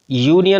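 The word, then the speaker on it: union: यूनियन में देखेंगे यह यूनियन में यू जो है हमारा वाउल है इंग्लिश के अकॉर्डिंग लेकिन यहां पर जो इसका प्रोनाउंस एशन किया जाता है उसमें या आता है और या जो है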